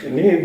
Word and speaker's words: Niamh: Neve is you spell it, and IAMPH.